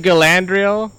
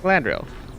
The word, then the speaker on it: Galadriel: know it's one of those the blade of galandriel or galandria Galadriel yeah look I could still do that one